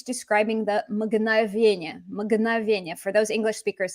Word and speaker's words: мгновенье: And it's neuter because it's describing the мгновенье. Мгновенье. For those English speakers, this is a fun consonant cluster to pronounce. Мгн. Так.